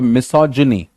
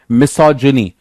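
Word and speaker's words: misogyny: बट यहां पे आप ज बोलते हो, मिसोजिनी, मिसोजिनी.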